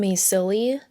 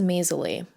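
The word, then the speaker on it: Maysilee: I've been saying Maisily, but her name is Maisley.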